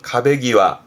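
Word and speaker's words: 壁際: 그러면 이것도 벽가를 의미하는 발음은 가베기와.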